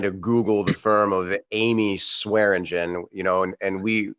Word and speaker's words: Eighme: uh you know my my last name is uh is spelled e-i-g-h-m-e and that's pronounced Amy like the girl's name his last name is